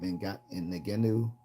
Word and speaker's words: Ngannou: Ngenu.